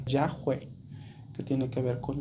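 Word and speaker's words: Yahweh: nombre de Dios en en hebreos se pronuncia sería yahwe que tiene que ver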